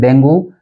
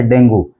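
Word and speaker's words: dengue: ंगी ंगी डंग गी यानी ये टू सिलेबल वर्ड है जिसका जो उच्चारण है वो होगा डेंगी अगला वर्ड देखिए खाने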